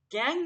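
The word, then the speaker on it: gangue: लैंग्वेज में बोलते है गैंग मटेरियल ठीक है उसको हम बोलते ग मल इसका स्पेलिंग जो है स्पेलिंग में हमलोग य लिखते हैं लेकिन जब इसको प्रोनाउंस करते हैं हमलोग गंग बोलते तो गंग जो है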